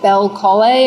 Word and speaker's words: Belcolle: Bel Colle or Colli? He doesn't know how to pronounce it.